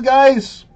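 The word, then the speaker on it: Guice: very nice mainly cuz his last name guys rhymes with nice therefore like he's so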